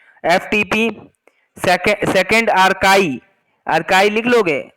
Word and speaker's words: Archie: Second आर्काई, आर्काई लिख लोगे? आर्काइव नहीं, आर्काई है, स्पेलिंग सुनना ध्यान से, ARCHIE, आर्काई, ARCHIE।